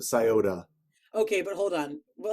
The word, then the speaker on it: Scioto: It ends in an O, and people pronounce it Scioto.